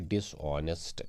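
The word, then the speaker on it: dishonest: इसका जो एच है यहाँ पे ये साइलेंट रहेगा, इसको हम पढ़ेंगे डिसऑनेस्ट, बेईमान।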